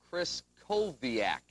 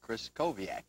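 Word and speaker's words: Krystkowiak: fall one more time kris koviak you don't pronounce the t and like larry said the w is pronounced like a v let's hear it norm kris koviak good all right i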